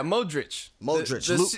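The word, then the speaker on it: Modrić: Yeah, Modric.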